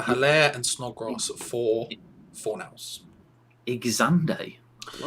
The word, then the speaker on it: Xande: Xande. I like that pronunciation.